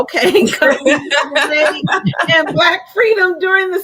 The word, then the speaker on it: Combahee: Again, guys, the name of the book is Combee, Harriet Tubman, how do you pronounce that word? Combee. Oh, okay. Combee and Black freedom during